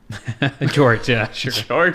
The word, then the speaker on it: Georges: I've seen Americans say Georges. I've seen lots of people call Georges. Which is incorrect. Right. Yeah. Whether you're American or anything else, that's not the right way to say it. All right. So how do you say your name? Full name? George is the way I would say it.